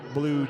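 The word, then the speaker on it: Bilyeu: scoreboard Chase and Ella blue check back in blue is spelled b-i-l-y-e-u Sydney and Ella on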